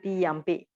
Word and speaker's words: yampi: of the p sound the m dot become normal m so we pronounce it yampi if not we will pronounce it tutti yum if you are going to pronounce it today it's not so uh smooth all right so instead